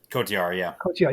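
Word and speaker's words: Cotyar: Right, and Bobby seemingly saves Christian and how do you pronounce it? Her bodyguard's name? Kotiar, yeah.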